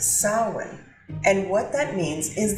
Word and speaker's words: Samhain: Harvest was October 31st what they called that day was sin it's spelled very differently to how it said but it is sin and what that means